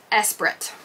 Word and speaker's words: Esprit: about this oh these are vintage jeans look esprit is how you say it esperant e-spirit these